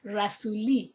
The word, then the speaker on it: Rasuli: Everybody always talked about Rasuli, so I thought, well, he's probably Italian, but because his name is pronounced Rasuli in Persian and his first name